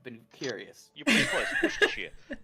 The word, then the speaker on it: Worcestershire: Worcestershire. It's Worcestershire, Mm. Instead of saying shire, you say sheer.